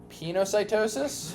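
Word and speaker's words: pinocytosis: We have penocytosis, which is cell drinking. We are going to take the extracellular fluid Pronounce it pine.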